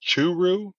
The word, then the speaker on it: Churu: Yeah, I'm gonna have to look up Churu, is how it's Yeah, pronounced.